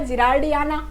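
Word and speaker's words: gerardiana: ठीक है, अब जरा इधर आना, ये जो वर्ड है इनका प्रोनाउंसिएशन थोड़ा सा आपको लग रहा होगा जिरार्डियाना।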